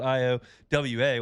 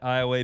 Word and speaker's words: Iowa: It's Iowa. It's spelled I-O-W-A, which most people would say Iowa.